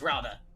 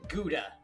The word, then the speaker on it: Gouda: Everyone knows Rauda. Wait, I think I know what's going on. I forgot to pronounce it Gouda.